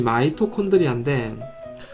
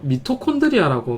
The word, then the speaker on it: 미토콘드리아: 실제적으로 발음이 마이토콘드리아인데, 우리가 교과서에도 그렇고 다 미토콘드리아라고 많이 말하거든요. 그냥 그렇게 말해도 됩니다. 이제 일상적으로 잘 알려진 게 미토콘드리아라고 발음을 하고, 그 다음에 한글말로는 사립체라고 합니다.